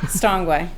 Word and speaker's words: Castonguay: Just want to point out that I know how to say it. Stongway.